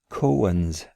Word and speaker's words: koan: go to the closure cohen's that's two syllables i believe cohen and it's the zen